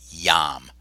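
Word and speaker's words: iam: That's not pronounced I am or yam. It's just yam. That I, when it comes before a vowel, is just like a Y often.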